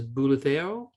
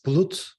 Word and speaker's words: Bulut: First was Bulutero. Bulutero? Hi, it's Bulut. Bulut? Sorry. Yeah, it's just Bulut.